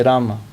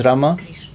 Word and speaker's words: Rama: I mean, like in Hindi they would say Rama, We'll still say Ram. Not but A. Ram is not correct because it's Rama. When you spell it in English, it becomes Rama. No, but if you look at the Sanskrit, is two words. It's Rama. You cannot just chop off the A.